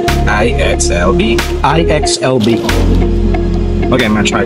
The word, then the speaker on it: IXLB: So I thought it's like IXLB. But no, she said, just say it as it is. IXLB.